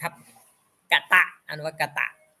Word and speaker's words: กต: เต่า นี่ คือ อ่อ อักษร ใด ที่ มี ตัว เดียว นะ ครับ ใน ภาษา บาลี ให้ อ่าน เป็น อะ หมด ครับ กตะ อัน ว่า กตะ อื